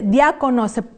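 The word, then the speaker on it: διάκονος: Y bueno, no hay mucho que distraernos con esa palabra, porque se parece al español cuando decimos diáconos, o diácono, o diaconisa, o diaconisas.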